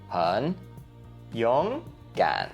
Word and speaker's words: 很勇敢: But then all together, it becomes 3, 2, 3. So 很勇敢.